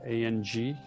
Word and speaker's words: ang: And we're going to tone, and the sound is ang. So A-N-G. So I actually pronounce ang.